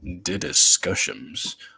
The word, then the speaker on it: DDiscussioMs: If you have trouble pronouncing it, here's how you pronounce the name. DDiscussioms. That is how you pronounce it.